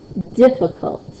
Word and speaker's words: difficult: Or here, difficult, difficult. You hear the bigger punch on the diff part of the word.